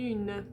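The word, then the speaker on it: une: to say the n you have to do that little y on the u na okay you also get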